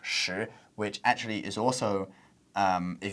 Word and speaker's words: 食: And in Mandarin, sek is pronounced shi, which actually is also, if you read Tang Dynasty poetry, you read some classical Chinese, it's also the word to eat.